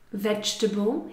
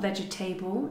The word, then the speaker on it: vegetable: Vegetable, here be careful with the pronunciation, it's not vegetable, it's vegetable.